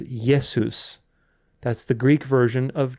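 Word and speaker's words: Ἰησοῦς: have to realize that people called Jesus yesus and the people who wrote the New Testament wrote down yesus so if you're going to be legalistic about pronunciation then you might as well learn Co Greek perfectly and pronounce yesus because that's what it says but either way after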